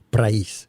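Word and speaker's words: πραΰς: La palabra en cuestión, en el original, en griego, es praís. Praís, así es como se debe pronunciar, praís.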